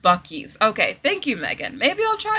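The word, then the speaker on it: Buc-ee's: Oh, and they're pronounced Buckies.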